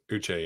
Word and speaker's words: Uche: Uche, yeah.